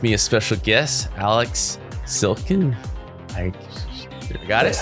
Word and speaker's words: Silkin: with me a special guest, Alex Silkin. I got it? That's how you pronounce it.